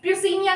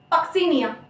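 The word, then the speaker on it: Puccinia: पी फॉर पक्सीनिया, कुछ लोग ना इसका प्रोनाउंसिएशन प्यूसिनिया करते हैं। मैं खुद बता रही हूँ, जब मैं 11th क्लास में थी तो मुझे इसका प्रोनाउंसिएशन नहीं पता था और काफी लंबे समय तक मैंने इसको प्यूसिनिया ही पढ़ा था। इट इज नॉट प्यूसिनिया, इट इज पक्सीनिया।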